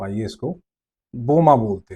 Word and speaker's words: बोमा: या फिर अगर हमें बहुत मुश्किल हो रही है इसको बोलने में, प्रोनाउंस करने में, तो आइए इसको बोमा बोलते हैं, है ना।